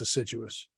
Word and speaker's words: assiduous: it's it's actually a situous that's how you pronounce it deciduous yeah it's assiduous do it again here I think I can